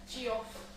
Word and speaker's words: Geoff: So Jeff is spelled Geoff, isn't it? Yeah, Geoff.